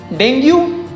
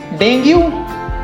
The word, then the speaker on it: dengue: Next we have this, dengue. Dengue? नहीं. The correct pronunciation is dengue.